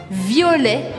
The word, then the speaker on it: violet: ligada uma flor ouvir olé violet mais uma vez eu não pronuncio ter no final desta palavra agora se você gosta